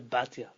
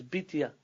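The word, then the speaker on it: בִּתְיָה: i want about Moses they turned that in turn into Bhatia but the name is bitiya media yeah it means bad yeah the daughter of god that pronounced in Hebrew bitiya em Bhatia and sea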